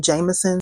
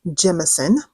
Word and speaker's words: Jemison: I was always pronouncing her last name Jameson. So let me correct myself here and now. Mae Jemison is an accomplished physician, engineer, and astronaut.